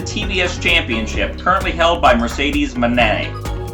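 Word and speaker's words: Mercedes Moné: But point stands to get the horns this time for the TVs championship currently held by Mercedes Manet. Say it properly, not money, not moan man.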